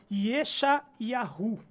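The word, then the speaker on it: ישעיהו: Vamos ver agora no hebraico. Yeshayahu. Yeshayahu? Exatamente.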